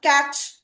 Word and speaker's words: catch: CH is a single sound, catch. CA. Now T is silent here.